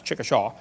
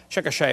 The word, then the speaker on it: Chickasha: it 2005 textbook and I pronounced it wrong as Chickasha nots Chickasaw Chickasha Oklahoma I got corrected during the